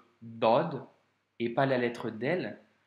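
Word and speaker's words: ضاد: Aujourd'hui, on a vu ensemble la lettre Dod, qui, je te le rappelle, se prononce avec emphase.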